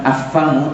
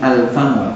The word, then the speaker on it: Alfamart: mulut satu-satunya disini Alfan maka dibacanya Bukan affamart tapi Alfamart ini pemberian semua nomor